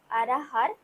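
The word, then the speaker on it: अरहर: আর হিন্দিতে হবে আরাহার ডাল।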